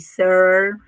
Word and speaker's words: Searle: ataque así como de caspa, así, a ver, pronuncien en su casa, porfi, Searle, así, Searle, bien, y cuánta falta nos hace para enriquecer nuestra mirada como coaches.